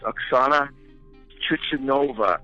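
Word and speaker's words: Chusovitina: I believe it's pronounced Oksana Chichovina.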